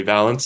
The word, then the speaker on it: Valance: So it's actually Valance. I've pronounced it all over the place, but I can tell you definitively from the creators, because he's named he's inspired by Who Shot Liberty Valance.